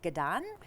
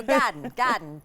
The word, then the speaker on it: Gadan: Um so, I'm really curious about is it Gdan? Gaden. It's pronounced garden like you were saying the word garden and you were from Boston. Ah okay. So Gaden Gaden playing with Endis Ghill of Banjo 3.